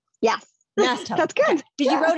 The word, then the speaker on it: Masteller: Masteller. Yes. Masteller.